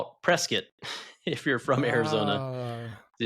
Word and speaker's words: Prescott: I like to go to Payson or Prescott, Arizona. But if you're from Arizona, you don't call it Prescott, and that's one of the ways we know you're an outsider. You call it Prescott if you're from Arizona.